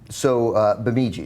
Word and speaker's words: Bemidji: I looked up Bemidji, Minnesota. It's even further north than Fargo is. It's, is that right? It's northeast, closer to the Canadian border in Michigan. In Minnesota, sorry. Bemidji, that's how we say it, right?